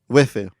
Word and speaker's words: waifu: You are the big titty goth waifu trapped in a dating sim. No, you got to say it right. Wifu.